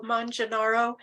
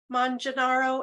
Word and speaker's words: Manganaro: Italian would be more like manga rather, Manganaro.